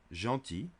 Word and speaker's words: gentil: Now the L is silent. Gentil.